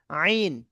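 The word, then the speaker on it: عين: হ্যাঁ এখান থেকে আরেকটা অক্ষর উচ্চারণ হয় গলার ভিতর থেকে, মানে গলার শেষ ভাগ থেকে আরেকটা উচ্চারণ হয়, আইন। এই আইন দেখতে পাচ্ছেন, আইন আইন, আইন আইন, আইন আইন, আইন আইন।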